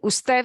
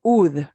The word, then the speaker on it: usted: You'll see it abbreviated a lot, but we don't pronounce it ud or uds. It's still usted, ud period, ustedes, uds period. Okay, just so you know, it's abbreviated.